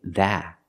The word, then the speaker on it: that: You cannot say that. You have to use a stop T. That. The tongue comes up and stops the air.